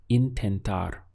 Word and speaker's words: intentar: There are a few options in Spanish, but the one we'll go for right now is intentar. We have 3 syllables. In, ten, tar.